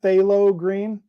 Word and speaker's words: phthalo green: used it yet so we will get there phthalo green bob ross so it's pronounced phthalo green i that that would make sense bob ross